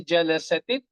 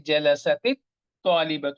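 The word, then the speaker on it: جلست الطالبة: So you don't say jalasat, you say jalasatit talibatu.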